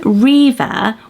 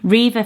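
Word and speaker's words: Reva: elegant and it's so many trans the name Riva went up 52 places just last year Riva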